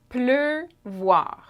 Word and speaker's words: pleuvoir: Two syllables. And lastly, pleuvoir.